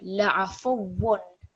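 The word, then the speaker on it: لعفو: This is waw mushaddad with a dammatain. So la'afuwwun. Can you read this word, please?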